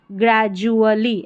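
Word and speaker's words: gradually: grey GRA grey, DU जो ये जो डी है इसको यहाँ पर ज पढ़ना है, तो DU को जू पढ़ेंगे, ग्रेजू अ ए का उच्चारण LLY ली, ग्रेजुअली ऐसे तोड़ के पढ़ना है, GRA ग्रे जू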